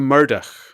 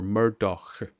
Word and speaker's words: Murdoch: They go Murdoch or Murdoch. But it's Murdoch. Like the Howlin' Mad Murdoch from the A-Team.